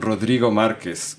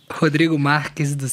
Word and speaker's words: Rodrigo Marques: ceniza Hoy estamos en radio semilla Con Rodrigo Márquez que yo estoy pronunciando mal Cuál es tu nombre completo bien pronunciado Rodrigo Rodrigo Márquez como pueden ver está en portugués pero no